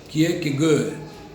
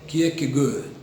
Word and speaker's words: Kierkegaard: iniciar um por um célebre teólogo dinamarquês chamado que é que gohan alguns chama obrigado mas a pronúncia dinamarquês é que é que ele é um filósofo que é considerado pré-show